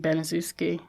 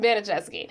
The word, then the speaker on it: Baniszewski: I was saying Baniszewski. I wrote it here. My bad. Pronounced Baniszewski. Baniszewski. Their church friend and mother to Paula, Johnny, and Stephanie, and several other younger children.